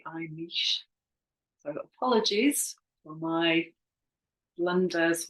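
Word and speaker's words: Imix: So back to today, and today's cards, we have the I mix. So again, I think that's the wrong pronunciation actually. I think it should be I niche.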